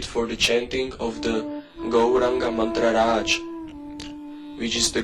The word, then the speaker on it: Gauranga: The same process is to be repeated for the chanting of the Gauranga mantra Raj, which is the Gaura Gopala mantra. Go, Ra, 4-syllable Gaura Gopala mantra.